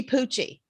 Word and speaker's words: Pucci: how you say it it's supposed to be poochy yeah however my husband's